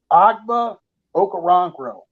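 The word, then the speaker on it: Ogbo Okoronkwo: Texans his name is very difficult to pronounce agba okarangro but I pronounced it right agba okaronkro and then we signed another tied in Jordan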